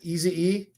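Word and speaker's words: Ekwonu: Obina Easy E. I love that last name, by the way, Easy E, because I heard that's what they call him, or that's how he pronounces his last name.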